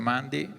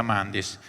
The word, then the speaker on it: Mandis: Io devo anche chiedere scusa alla direttrice che ho pronunciato male il suo cognome, ho tralasciato una S, è Simonetta Mandis, mi perdonerà spero.